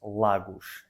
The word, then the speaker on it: Lagos: Bueno, en portugués decimos Lagos, L-A-G-O-S. Vale, bastante diferente a la pronunciación española.